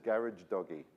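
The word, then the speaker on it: Gharajedaghi: and it's someone said gar doggy right think of a garage with a doggy in it so garage a doggy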